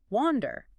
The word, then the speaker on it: wander: It looks like it should be pronounced with a hard a like an apple, but it's actually a soft a sound like in water. Wander.